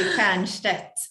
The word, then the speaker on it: Stjernstedt: Stjernstedt. Is that German? Yeah, it's like Norwegian, or it could be Swedish, but Old Swedish or Norwegian. And it would be Stjernstedt in Swedish.